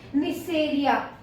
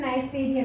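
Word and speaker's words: Neisseria: दूसरा है निसेरिया। क्या होता है ये? निसेरिया। अगर हिंदी में इसका प्रोनाउंसिएशन नाइसेरिया भी बोलते हैं इसको, ठीक है।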